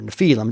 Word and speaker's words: Nephilim: The translators used the word giants in verse 4 for the Hebrew word Nephilim or Nephilim, depending on how you prefer to pronounce it.